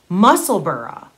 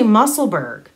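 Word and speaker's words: Musselburgh: across the pond and they pronounce it muscle burra like edinburgh but we say muscleberg so now like what's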